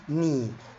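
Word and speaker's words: knee: حلقات قواعد النوط طبعا اتكلمنا ان ال لما بيجي ورا حرف الان ال لا تنطق زي الكلمه اللي قدامنا ني تمام وزي كلمه نايف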